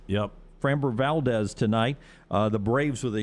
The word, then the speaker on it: Framber Valdez: and framber is that i say his name framber valdez yep framber valdez tonight the braves with a huge advantage in